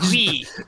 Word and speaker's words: oui: Oui, oui. It's a card that just says oui. I hate how much it sounds like the W-E, but it's O-U-I.